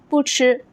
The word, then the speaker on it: 不: In those cases, 不 keeps its original first tone when it is followed by first tone, second tone, and also third tone. For example, 不吃, 不吃, it means not to eat.